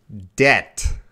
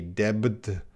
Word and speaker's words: debt: the problem, they still, this B is silent. There is zero B sound. There is no B sound, okay? You got to be careful. Debt. Yeah, Ziad, I talk about it a lot in my videos because so many students say debit. No. Debt.